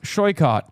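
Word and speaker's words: Saikat: Tell them that my name is pronounced shycott.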